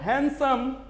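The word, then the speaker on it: handsome: अगर आप कहते हो हैंडसम, जहां पर आप डी का उच्चारण साइलेंट करते हो, यहां पर आपका क्या है?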